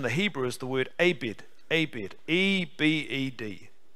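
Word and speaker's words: עבד: word servant in the hebrew is the word abed abed e-b-e-d a-bed it's pronounced abed and that means bond servant or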